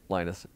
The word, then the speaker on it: Linus: technology clearly his name if you don't mind Linus maybe just start so the debate ends there stop questioning how I say lioness torvald Linus torvolt is correct Linus torvald is correct Linus Torvalds is correct it